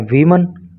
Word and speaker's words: woman: इसको बोल रहे हैं वीमन। तो इसका क्या मतलब हुआ? देखो जब एक वचन नाउन होता है यानी कि WOMAN होता है तो उसका प्रोनाउंसिएशन होता है वूमन, और जब एक से